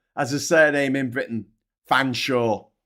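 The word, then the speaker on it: Featherstonhaugh: Fansaw. It's pronounced fansaw, motherfuckers.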